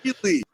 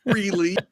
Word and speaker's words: Frehley: We pronounce Ace's name right on this show, kids. It's Damn it. Frehley. It's not Frehley. Yeah. It's Frehley.